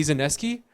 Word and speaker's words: Zaneski: I want to welcome Eddie Zaneski. Is that pronounced it correctly?